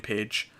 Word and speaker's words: Paige: a comedy is called page one and it's spelled p a i g e like the name page um and it's about